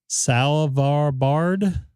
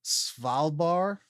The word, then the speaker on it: Svalbard: Salvarbard? How would I pronounce that? It's Norwegian, Svalbard.